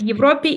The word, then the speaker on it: Европе: I'm going to give you 2 words, Европа, в Европе. Европа is original word in nominative case, and then в Европе is in Europe, which is locative case or prepositional case, and it's when you've been to Europe.